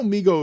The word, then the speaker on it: Mego: I am not pronouncing it correctly because I promise you, for the first 40 years of my life, it was MEGO, like Lego, like Lego.